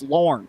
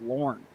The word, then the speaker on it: Lorne: I mean, it's Lorne. Would you ask him how to say his name? Don't be shy. It's Lorne.